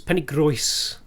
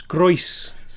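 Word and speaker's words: Penygroes: I need to correct your pronunciation. It's Penny Grois. It's Grois. Penny Grois.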